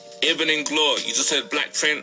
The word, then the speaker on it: Ibn Inglor: I've been calling you Ivan. Yeah, it's a common mistake from Ivan Jasper, but yeah, like it's actually pronounced Ibn Inglor.